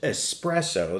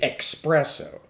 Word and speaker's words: espresso: the espresso martini and it's pronounced espresso there's no X in it do not say expresso I do not like